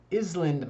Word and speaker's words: island: Island 말고, Iceland 말고, island. Island is the pronunciation.